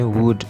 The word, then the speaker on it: would: Membacanya I would ya, bukan I would. L-nya tidak dibaca.